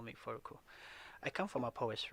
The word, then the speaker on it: Froko: call me or you can call me furuku i come from a polish region of ghana